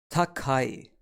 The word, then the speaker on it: 高い: And we pronounce it as takai. A good way to remember takai for high or tall is too high.